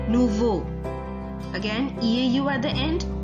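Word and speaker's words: nouveaux: The X is silent, it is not pronounced. Nouveau.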